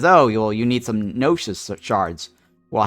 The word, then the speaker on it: Gnosis: You need to graduate a student first to be able to hire staff members, because staff members need Gnosis Shards. The G is silent.